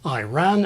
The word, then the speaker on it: Iran: Barbados and Adrian or pronounced Iran and Iraq like Irene and irate interesting one on Iran